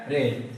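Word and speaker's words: read: Spelling वही रहता है और बोलते क्या है, रेड।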